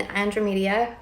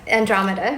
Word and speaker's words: Andromeda: that I have experience in andra media that's how my team pronounces it which is so funny but Andromeda right and then the Pleiades